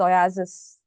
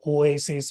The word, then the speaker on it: Oaisys: I suppose it's pronounced as oasis oasis itself but it's a word play on oasis the literal word I suppose.